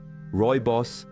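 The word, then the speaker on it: Rooibos: Roy Boss, pronounced Roy Boss, is an elegantly caffeine-free herbal infusion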